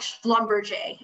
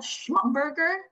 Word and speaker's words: Schlumberger: that like genuinely like schlumberjay it's pretty it's like spell schmumm burger and it's pronounced Schlumberger right so it like isn't always phonetically said either so if you are